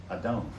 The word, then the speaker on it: Adon: Adon.